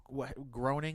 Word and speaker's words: Groening: mean it was everything that would that Matt Groening is how you say his name yeah he